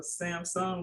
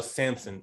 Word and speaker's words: Samson: You saying like Samson or Samsung, like the phone? Samsung? No, Samson. SAMSON.